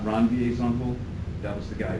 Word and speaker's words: Ranvier: They're called nodes of Ranvier. For those of you that are curious, that is the correct way to pronounce that.